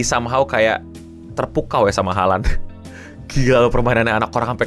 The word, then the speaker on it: Haaland: Oh ya, Haaland tuh bacanya Olan, tapi dia tetap gak apa-apa katanya panggil gue Haaland aja.